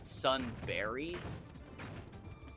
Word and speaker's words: Sunbury: But like, it's actually pronounced Sunberry. As in like the fruit.